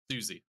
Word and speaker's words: Siouxsie: and it's I like if you think about this, it makes sense because it's spelled like the tribe, Yeah. like Sioux Indian. So Yeah. it's Susie.